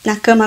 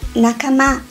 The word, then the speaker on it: nakama: e fala Eu, você, na cama agora? Então, você também tá falando japonês, porque na cama é uma palavrinha japonesa, que na verdade se pronuncia nakama, e significa companheiro, mas não companheiro amoroso, um companheiro de amizade.